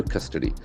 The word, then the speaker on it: custody: Custody has got a beautiful pronunciation. C-U-S-T-O-D-Y. Y endings must be nouns. Okay. Custody. Custody. The letter C has got a hard Q sound. Custody. Beautiful. Custody. Custody. So we have three syllables here.